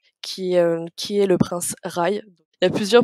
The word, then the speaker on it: Rhy: qui est le prince rails et plusieurs prononciation on n'a pas tous dans n'est pas tout dans la même team mais ça s'écrit rhj grec donc moi je dis rail qu'un personnage que j'ai